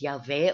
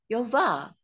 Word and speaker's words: Yahweh: Commonly pronounced as Yahweh, or some people pronounce it as Yehovah.